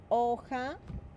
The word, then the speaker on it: hoja: What sound does the letter H, I'm circling the H, the H, what sound does it make in a Spanish word? It is silent, right?